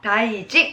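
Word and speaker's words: 大臣: 그러니 " 신 " 이 아니라 " 진 " 으로 읽어야 합니다 . 이 단어는 " 다이진 " 으로 읽히기 때문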